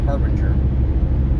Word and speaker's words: Harbinger: jordan harbinger yes i was saying it wrong harbinger um you probably have something out that i